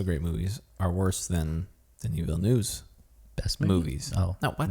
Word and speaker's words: Denis Villeneuve: Denis Villeneuve. That guy. Denis Villeneuve. It's spelled like Dennis, but he pronounced it Denis Villeneuve.